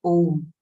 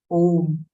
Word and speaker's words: Om: That is Om. Phonetically, the word Om does not belong to any language. It is a universal sound consisting of three sounds, A, U, M.